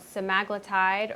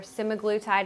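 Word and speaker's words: semaglutide: a program specifically for a medication called semaglatide or semiglutide it's pronounced both ways but our program is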